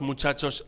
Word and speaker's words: muchacho: ¿De qué color son los muchachos en la escuela? Ambos, o los dos, son blancos y alumnos distinguidos. Footnotes relating to words and phrases in Tercera lección. page 15, footnotes. 1. Muchacho se pronuncia mu-cha-cho.